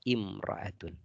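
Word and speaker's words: امرأة: jauh banget dari mereka Jadi bisa almaratu kalau dihilangkan alif lam nya kita bacanya imraatun Ya kemudian paribun artinya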